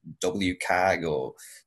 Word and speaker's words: WCAG: then I learned that web-CAG the web content accessibility guidelines was getting an update some people call it W-CAG I call it Web-CAG I think I'm the only person who pronounces it that way.